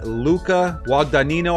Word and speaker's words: Luca Guadagnino: Luca Guadagnino, I believe is how you pronounce it, is set to direct Universal's Scarface reboot.